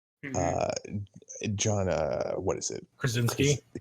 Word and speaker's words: Krasinski: quiet place part 2 John what is it Krasinski the Krasinski I wanted to make sure I pronounce it correctly he's the one who basically